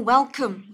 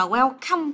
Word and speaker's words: welcome: Từ này đừng có đọc là welcome các em nhé. Đọc là welcome. Bởi vì khi mà mình nhấn với âm đầu tiên ấy, thì cái âm thứ hai này mình sẽ đọc là âm ơ này.